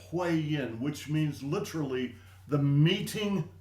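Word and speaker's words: Huiyin: is a very important acupuncture point called the hi yin and that is spelled uh h ui y i n hu yin which means literally the meeting of yin.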